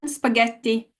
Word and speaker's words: spaghetti: on the one before and spaghetti T is the last syllable and the stress is right here so just to give